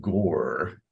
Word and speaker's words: Gorre: And so the default encounter that I am setting is with knights from the kingdom of Gore. That sounds very intimidating, but it's spelled Gorre.